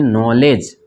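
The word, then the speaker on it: knowledge: कैसे साइलेंट हो गया उसके बाद जी के पहले डी है तो दी साइलेंट हो गया ठीक है ना इसको मिला के पढ़ेंगे नॉलेज दी हटा देंगे नौ लेट्स ठीक है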